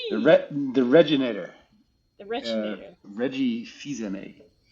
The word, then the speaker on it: Fils-Aimé: Reggie Fils-Aimé. Fils-Aimé.